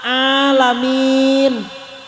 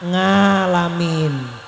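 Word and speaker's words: العالمين: yang sudah tua misalnya enggak bisa mengucapkan huruf Ain bisanya nga jadi setiap ada huruf Ain dibacanya apa nga maka ketika mengucapkan alhamdulillahiabbil alamin Jadi bukan alamin ketika kita apa Buruk Pak bukan nga tapi a coba alamin ternyata ngalamin eh bukan ngalamin a coba a nga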